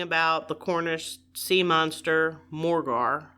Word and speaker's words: Morgawr: the Cornish sea monster Morgar. I think that's how you say it. Morgar? That's how I say it. Yes. Morgar.